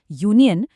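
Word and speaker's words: union: यूनियन शुरू तो vowel you से होता है लेकिन साउंड यू का है। यू एन एंथ होगा इसलिए अ यूनियन होगा।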